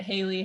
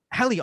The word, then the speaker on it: Hallee: a lot of times i get haley halle all over the place but yes you got it right well i did a